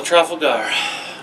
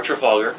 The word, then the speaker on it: Trafalgar: you have to battle truffle gar or trafalgar it's pronounced either way depending on what country you're from uh the british reported